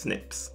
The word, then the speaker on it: SNP: segments that are called SNPs (pronounced snips).